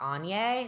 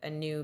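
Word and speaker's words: Aine: goddess um I think it's like pronounced Ane it's like a i n e and it's a little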